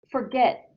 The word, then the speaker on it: forget: Forget. Where is the stress in that word? Is it in the first syllable or the second? Forget. The second one. Second one. It's the second syllable.